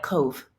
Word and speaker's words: cove: And so in English, the E is oftentimes silent at the end of a word, like cove. You don't say COVID.